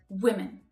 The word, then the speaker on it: women: the plural form again is that W sound then I as in hit wi wi okay so again that's the strong syllable you need to hear it make sure you've got air in your lungs to push it out wi then the unstressed syllable follows right so we reduce it down women women so let's compare the